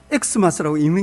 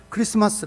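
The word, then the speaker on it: Xmas: 그 있다고요 무슨말인지 아시겠죠 저거는 x 마스 라고 읽는 게 아니에요 영어 스펠링이 아니고 헬라어 헬라어의 크리스토스 그리스도 라고 하는 단어의 첫 글자를 따서 x 마쓰 크리스마스 라고 써 놓은 거예요 그러니 마스 라는 말을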